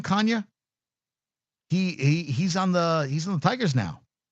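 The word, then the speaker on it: Canha: Kanya.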